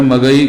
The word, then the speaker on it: मगही: बोली जाती तो मगही, तो वो शुद्ध भाषा में कहा जाए तो मगधी, मगर वो मगधी में उसका उच्चारण मगही कहते हैं।